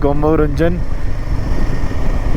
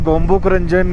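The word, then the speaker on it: Gonbo Rangjon: अगर आप गूगल पे देखोगे तो गोम्बुक रंजन इसका एग्जैक्ट प्रोनाउंसिएशन है या फिर नाम है जिसको बोलते हैं। बाकी तो लोकल के हिसाब से गोम्बो रंजन भी है, कोई कुछ बोल देता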